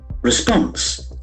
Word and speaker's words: response: interesting noun here response response an answer or reaction response lacks and force on the second syllable there are two syllables response onward emissions O M I S S I O N.